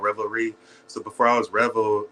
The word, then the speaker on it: R3vel: stellarizing I think though so uh you said Revel right this is pronounced Rebel okay so tell us about you and where'd